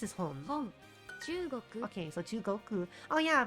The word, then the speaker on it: 中国: 本中国 Okay, so Chugoku. Oh yeah, because that kanji is literally pronounced chu.